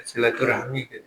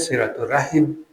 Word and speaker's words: silaturahim: Silaturahmi harusnya silaturahim ya. Karena bahasa Arabnya rahimun bukan rahmun.